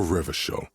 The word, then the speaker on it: Revachol: People made gold for Revachol, your city. If it doesn't rhyme, you're not pronouncing it right.